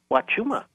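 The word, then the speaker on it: Huachuma: And I don't actually know the correct way to pronounce Wachuma? Wachuma.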